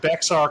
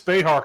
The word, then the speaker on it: Bexar: But Matt Walsh is funny because he was pronouncing it Bexar County, and he kept pronouncing it Bexar County, and then he started getting emails saying, you're pronouncing it wrong. It's Behar County.